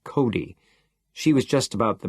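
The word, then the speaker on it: Cote: On the other hand, there was Mrs. Cody, pronounced Cody.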